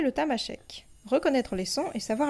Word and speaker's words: Tamasheq: En tamashek, on prononce tamashek, temashek.